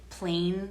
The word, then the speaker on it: Plaine: There's also Plain products, which is spelled Plaine, and they will send you shampoo and conditioner and face oil, which I love, the face oil.